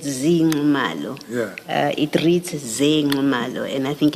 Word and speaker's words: Ze Nxumalo: So the correct pronunciation is Ze Nxumalo, as is written here.